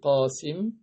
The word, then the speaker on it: Qasim: un garçon qui s'appelle Qasim, et il était surnommé le père de Qasim, Abul Qasim. Et les Arabes prononcent le qa ga.